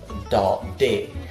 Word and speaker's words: Daudet: It is spelled as Alphonse Daudet, but we do not pronounce it like that. We pronounce it Alphonse Daudet, Alphonse Daudet, Alphonse Daudet, Alphonse Daudet. So that is the pronunciation.